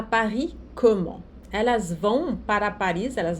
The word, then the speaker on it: comment: Elles vont à Paris comment? Né? O S aqui não se pronuncia, aqui o vont, o T não se pronuncia, Paris. O S não se pronuncia, comment?